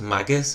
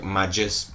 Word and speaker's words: Maguss: protecting the world like I know it's Magus but I feel like want to pronounce it my juice is like magic and my good my good sound like some same I'm gonna pronounce it like majus I had it it might be wrong but I'm going to